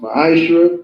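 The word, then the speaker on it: מעשר: Means 10th in Hebrew is pronounced ma'ashra, 10% of every penny increase the Lord gives you.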